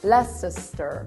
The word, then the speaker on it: Leicester: Leicester. Leicester? Leicester. Leicester.